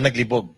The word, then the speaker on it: naglibog: ayaw niya o n the accent should be faster naglibog not on the first syllable okay Kasi naglibog okay